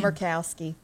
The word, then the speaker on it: Murkowski: Murkowski, I think.